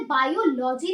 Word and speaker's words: biology: Okay guys, एक चीज और मैं आपको बता दूं कि इसे बायोलॉजी नहीं बोलते, इसे बोलते हैं बायोलॉजी. बहुत से लोग गलत प्रोनाउंस करते हैं और वो बोलते हैं बायोलॉजी, बट इट इज बायोलॉजी.